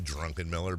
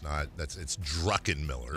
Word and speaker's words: Druckenmiller: And why do I always say his name Drunkenmiller? But I do, and I know it's Druckenmiller.